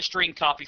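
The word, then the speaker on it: strcpy: of functions available to the program including the string copy function to demonstrate the the use of the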